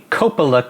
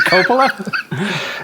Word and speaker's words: Coppola: it is it coppola it's it's italian you know european vowels tend to open up things a little bit they pronounce the o's more like ohs so you know coppola makes a little more sense okay probably closer now